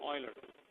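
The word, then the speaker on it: Euler: Newton Oiler. So this is you pronounce it as Newton Oiler.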